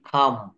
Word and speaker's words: come: শব্দের শেষে ই থাকলে ই এর উচ্চারণ হয় না। যেমন NAME, নেইম, নেইম, COME, খাম, TAKE, take, FAKE, fake. Fake শব্দের অর্থ ভুয়া, আমরা প্রায় এই শব্দটা ব্যবহার করি, ফেক, টেক, খাম, নেইম। অর্থাৎ এখানে ই কিন্তু সাইলেন্ট লেটার, ই উচ্চারণ করা যাবে না।